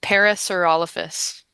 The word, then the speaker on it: Parasaurolophus: Okay, so it's Parasaurolophus.